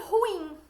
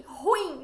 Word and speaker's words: ruim: E que nem ruim. Nesse caso, o acento tônico está como se fosse no I. Ruim, não é ruim.